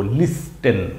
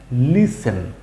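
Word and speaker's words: listen: লিস ই এন এন লিসেন লিসেন কি হবে মাঝখান থেকে টি এর উচ্চারণটা বাদ হয়ে গেল এল আই এস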